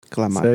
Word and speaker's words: Clamato: Clamato. Say it right. Clamato. There you go.